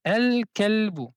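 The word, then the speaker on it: الكلب: Le alif et le lam derrière la lettre kaf, on prononce le lam. On a accompli le idhar de la lettre lam. On dit al kalbu.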